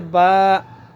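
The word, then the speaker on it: ب: এরপর হচ্ছে বা।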